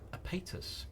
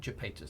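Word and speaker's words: Iapetus: And there's another moon of Saturn called Apatus, or Japatus, depending on how you pronounce it.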